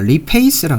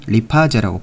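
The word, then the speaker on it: lipase: 자, 리파제를 영어 이제 본토 발음으로는 이제 리페이스라고 합니다. 리페이스. 근데 이제 우리가 리파제라고 부르도록 하겠습니다.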